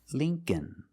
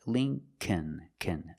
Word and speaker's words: Lincoln: But it's the long E. It's Lee, link, Lincoln, Lincoln. The second L is silent, so it's Lincoln, Lincoln. Remember, the first syllable is a long E like green beans. Lee, Lincoln.